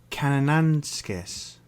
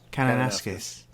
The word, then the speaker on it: Kananaskis: And so we're going to Kananaskis. Is that right? Kananaskis. I thought it was Kananaskis, like No, banana it's not like skis.